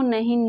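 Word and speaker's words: know: Rule है अगर एन से पहले के हो तो के साइलेंट रहता है। फॉर एग्जाम्पल नो, नो में एन के पहले के है तो इसको कोनो नहीं नो पढ़ते हैं, के साइलेंट रहता है।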